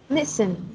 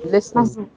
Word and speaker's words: listen: Mặc dù nó có chữ T ở đấy nhưng mà âm T là chữ T là âm câm đúng không? Mình sẽ không đọc là listen đúng không? Vâng. Mà mình chỉ phát âm là listen.